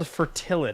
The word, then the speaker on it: Fertilid: Did you just say I was playing a card called Fertilid? Yeah, that's how you say it. You're not winning that Alright. one. It's called Fertilid, Alex.